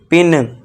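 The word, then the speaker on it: pin: तो यहां पे आई का उच्चारण आपको छोटी ध्वनि से करना है। अब देखिए पी आई है तो इसे क्या करेंगे? छोटी ध्वनि छोटी की मात्रा का है ना वह है मात्रा है तो उसे क्या पढ़ेंगे पिन आई होप दोस्तों आपको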